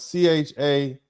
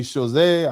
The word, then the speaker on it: Chazotte: Chazot, and that's spelled Chazotte. I'm not going to try to pronounce it like I'm French. I'm going to pronounce it like an American. Chazot. Maybe Chazé, I don't care.